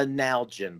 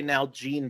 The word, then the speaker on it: Nalgene: on the episode because el pity pronounced this thing called a nalgene bottle now i call it a now gene bottle and what i've discovered